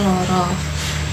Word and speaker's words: lara: Contohnya nata dibacanya noto, lara dibacanya loro, dan mata itu dibacanya moto.